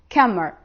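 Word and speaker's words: كمّر: get warm and ready but kamar it is coming from here kammar kamar and kammer they are different don't confuse them i want to make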